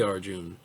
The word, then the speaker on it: Arjuna: your body arjuna so arjuna is spelled a r j u n a but uh most hindus say arjun they don't pronounce the final a but i usually do because i i see it there sit even to maintain